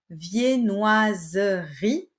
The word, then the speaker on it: viennoiserie: Viennoiserie, qui se prononce viennoiserie.